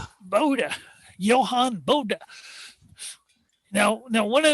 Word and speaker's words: Bode: How do you pronounce that name? Bode.